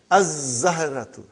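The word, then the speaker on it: الزهرة: We won't pronounce lam. Why? Because it is a sun letter. Huh? And then, brother, az-zahratu, the flower.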